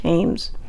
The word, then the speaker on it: Thames: for treasures on the i think it's the thames river t-h-a-m-e-s i'm pretty sure it's pronounced james well she found a